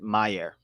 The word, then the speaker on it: Majer: I'm talking about Majer. They pronounce it Meyer.